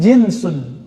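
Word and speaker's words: جنس: amalan ajnas jenis jadi jenis dari bahasa Arab jinsun Jin pakai jeans engak Pak itu beda lagi ya jans Tu bacanya Ya kalau ini jinsun Ja Jim Nun Sin jenis bahasa Indonesia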